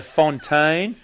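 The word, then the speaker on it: Fontyn: But, no, it is Fontaine. It's got two little dots above the Y, but the fact that it's spelt F-O-N-T-Y-N, because we don't have dots above the Y here in Australia.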